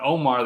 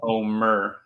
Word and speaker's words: Omer: It's Omer, because people say my name wrong all the time. They say it with an A, it's with an E.